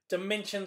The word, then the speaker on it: Dimension: it's okay David my name is pronounced like the math word dimension dimension I was very